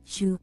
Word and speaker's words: Su: Jika kita tidak memperhitungkan nadanya, pengucapan Su secara kasar mirip dengan kata shu dalam bahasa Inggris. Jika ingin lebih akurat, tambahkan bunyi Y setelah huruf SH.